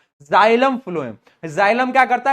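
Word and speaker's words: xylem: जाइलम। Spelling याद रखना। जाइलम। जाइलम। एक्स वाई एल ई एम जाइलम।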